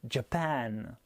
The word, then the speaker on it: Japan: faudra insister et appuyer pour le japon par exemple sachant que c'est la dernière syllabe la deuxième qui est accentuée ça donnera japan pour l'amérique par contre